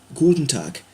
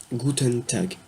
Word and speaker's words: Guten Tag: Mais bonjour, principalement, comme ça, se prononcera, se dira Guten Tag. Guten Tag. G-U-T-E-N, un espace T-A-G. Guten Tag.